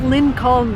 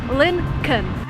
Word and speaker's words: Lincoln: attention to what I'm saying here is not Lynn calm the way it's written there is an L before n when you actually pronounce it you say Lincoln the second thing you have this car